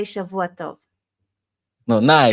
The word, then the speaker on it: Shavua Tov: But now you say Shavua Tov. no. Now I say Good. happy Saturday. Happy Saturday. No, you say Shavua Tov.